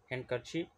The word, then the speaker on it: handkerchief: B is silent here. Handkerchief.